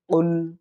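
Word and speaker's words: قل: বিসমিল্লাহির রাহমানির রাহিম দেখুন কুল কফ লাম পেশ কুল হুয়াল্লাহু হু আল্লাহু কুলহু আল্লাহু আহাদ আহাদ হা এর উচ্চারণটা আমরা কণ্ঠনালীর মাঝখান থেকে নেওয়ার চেষ্টা করব আহাদ কুলহু আল্লাহু আহাদ আবার বলি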